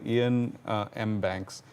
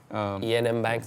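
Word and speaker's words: Iain M. Banks: If you haven't read him, he's my favorite sci-fi writer, Ian M. Banks. Ian M. Banks, that's spelled I-A-I-N.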